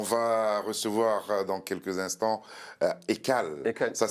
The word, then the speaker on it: Ekaly: On va recevoir dans quelques instants Ekal. Ekal, Ça ouais. s'écrit Ekali, mais on dit Ekal, On dit c'est ça? Ekal ou Ekali, ça dépend.